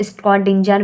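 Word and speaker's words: Schrödinger: फिर नेक्स्ट है स्ट्रॉन्जिंगर wave equation, थोड़ा प्रोनाउंसिएशन में दिक्कत हो जाएगी तो थोड़ा नेग्लेक्ट कीजिएगा, इसको अलग तरीके से प्रोनाउंशिएट भी कर सकते हैं। कुछ लोग स्क्रॉडिंजर वेव इक्वेशन कहते हैं, तो कुछ लोग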